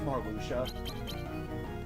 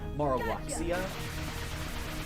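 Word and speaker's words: Marluxia: there's not voice acting, but it's pronounced it's pronounced Marlucha. Gotcha. Cuz I met some people that haven't played the other Kingdom Hearts games that kind that that call him by Marxia.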